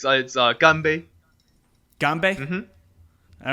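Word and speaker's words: 干杯: Yeah, it's ganbei.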